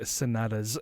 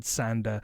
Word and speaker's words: Sanada: And I also realized I said Hiroyuki Sanada's name wrong. I said Sanda, and it is a Japanese name, but his name is Sanada.